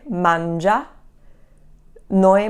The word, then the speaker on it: mangiano: So the loro conjugation, when it's a 3-syllable word, the accent is going to be on the first syllable. So mangiano, mangiano, mangiano. That's where the accent is.